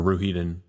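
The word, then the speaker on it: Rhuidean: through the glass pillars in Ruhiden, or Ruhiden, I think is more the way it's pronounced.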